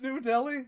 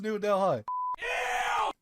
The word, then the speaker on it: Delhi: How was I supposed to know that H is silent?